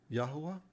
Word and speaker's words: Yahuwah: the house of israel including this tainted pronunciation when you know the truth an imposter is easy to spot yahweh insidious when you know the truth a counterfeit is easy to spot yahuwah imaginative when you know the